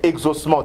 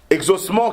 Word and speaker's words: exaucement: mais je dis que ce sont des homophones ce sont deux mots qui se prononce de la même manière mais qui ont une